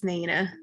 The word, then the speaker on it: Naina: All right, is Naina? How do I pronounce your name? You're next. Yes, you said it right. It's Naina.